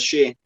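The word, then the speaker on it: Schär: I think Fabian actually pronounces his own name as Shea.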